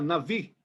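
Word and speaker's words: נביא: Palavra no hebraico e a transliteração e a pronúncia, profeta Nabi, né? A pronúncia seria Navi, né?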